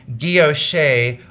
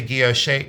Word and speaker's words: guilloche: And nothing wrong with saying guilloche or guilloche, however you want to pronounce it. I say guilloche enamel. I always have, I always will.